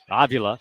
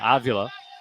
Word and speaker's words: Avila: Avila. That's the correct pronunciation. Avila.